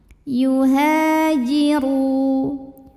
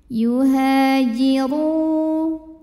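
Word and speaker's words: يُهَاجِرُوا: Yuhajiru, huruf ra dibunyikan secara tafkhim karena berbaris dhammah, maka ini dibunyikan dengan tebal. Yuhajiru, ru mad tabi'i dhahiri, karena ada waw sukun didahului baris dhammah. Cara bacanya dipanjangkan ra-nya 2 harokat.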